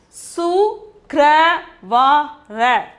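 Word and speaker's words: शुक्रवार: That is, see, su kra va ra. The pronunciation is sukravar.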